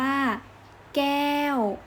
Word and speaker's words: แก้ว: ต่อ ไป คำ ว่า แก้ว กอ แอ ว ไม้ โทแก้ว อีก ครั้ง นะ คะ แก้ว